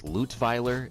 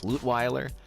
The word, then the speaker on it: Lutweiler: The only one that I haven't been doing a good job on is Lutweiler. It's not actually pronounced Lutweiler because he's not actually German. He's Canadian, so it's Lutweiler.